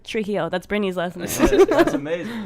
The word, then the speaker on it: Trujillo: you say his last name i was like trijio that's britney's lesson that's amazing that's exactly how